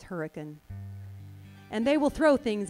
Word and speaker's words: Hurricane: For instance, we have a town in Utah that looks like it should be called Hurricane. It's not. It's Hurricane.